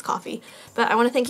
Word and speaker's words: Ko-fi: I say Ko-fi because I guess that's how we would read it phonetically in Japanese, but I guess it's coffee.